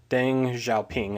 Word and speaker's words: Deng Xiaoping: So the leader of China, a man named Deng Xiaoping, I think is how you pronounce that, and I will say right now,